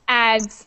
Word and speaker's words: adds: It's pronounced ads. Like, it sounds like a Z.